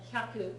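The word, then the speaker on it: 百: So Hyaku. that's the small ya, so it's Hyaku. hyaku, Hyaku. hyaku, hyaku. Make sure that the hya is only one syllable, not two.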